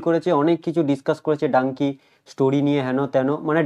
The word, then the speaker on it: Dunki: যেটা দেখবেন অনেকজন এই ডাঙ্কি শব্দটা অনেকজন, কেউ ডঙ্কি, কেউ দুনকি, অনেকজন আর কি বলছিল। তো সেটা আর কি রাজকুমার রানী ক্লিয়ার করে দিয়েছে, পুরো প্রোনাউন্সটাকে তারা শিখিয়ে দিয়েছে যে এটা কি আসলে ডাঙ্কি।